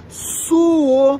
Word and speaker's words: suo: responda que por exemplo a pessoa falou assim e eh eu souo muito Ah eu também suo muito porque aí você ao